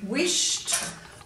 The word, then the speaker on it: wished: So the reason that we sound the word and then spell it is because if you just sounded it, you might want to write a T here. But when we spell it, we know we're using ED for the T sound at the end of this word.